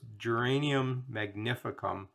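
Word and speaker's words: Geranium × magnificum: between two species so whenever you see a plant name with an x there so you don't really pronounce the x so it's geranium magnificum the x means that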